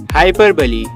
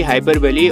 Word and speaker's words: hyperbole: हाइपरबली, इसकी pronunciation होगी हाइपरबली और इसका मतलब होता है बड़ा चढ़ा के कहना।